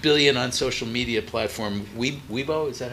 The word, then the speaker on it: Weibo: Weibo, is that how you say it?